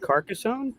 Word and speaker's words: Carcassonne: it is it's car is it pronounced carcassonne is that what that is yeah yeah i never heard of